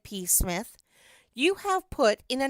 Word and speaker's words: Psmith: My name perhaps I ought to reveal to you, is P. Smith. The P is silent and until very recently I lived in affluence not far from the village of much Middleford in this county.